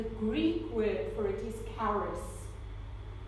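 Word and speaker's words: χάρις: of God the greek word for it is Karis spelled CH a arm is and Karis is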